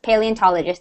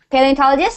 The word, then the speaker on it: paleontologist: Paleontologist. That's how you say it. Yeah. Paleontologist.